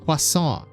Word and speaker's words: croissant: this superhuman woman but I must insist it should be pronounced quason H forget it I'm